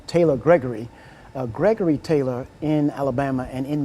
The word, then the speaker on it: Gregory: They hardly ever pronounce the name Gregory correct. They used the second G was always sounded like a K.